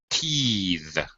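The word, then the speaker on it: teethe: two things happen um we change the vowel sound and we also change the th to a voice th so breath breathe teeth teas uh a baby teas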